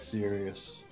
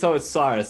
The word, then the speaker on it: Cyrus: And you see he's like looking at you dead serious. That's so good. It's Cyrus, not serious.